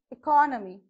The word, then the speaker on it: economy: how do you pronounce because it is e is a weak prefix we are using the stress mark on the second syllable okay so here we are pronouncing this as economy so we are stressing more on core here that's why the vertical bar stress mark is on that okay economy when i